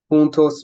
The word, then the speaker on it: juntos: Juntos means together, juzgar means to judge, and ejército means army. Now, the jota is pronounced pretty much like the English H, just like the G, the English H.